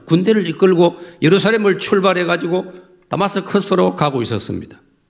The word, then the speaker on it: 다마스커스: 이끌고 예루살렘을 출발해 가지고 다마스커스로 가고 있었습니다 왜 갈까요 여러분 아시지요 성경을 통해서 사도행 9장 다마스커스에 우리 성경 번역에는 다메 이이지 영어 원 발음은 다마스커스 시리아의 수도입니다 그 다마스커스에